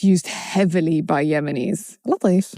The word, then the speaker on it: Latif: Because I'm pronouncing it the Yemeni way. To pronounce it the Yemeni way. I'm Latif. excited about you pronouncing it the Yemeni way. Because it's used heavily by Yemenis. Latif.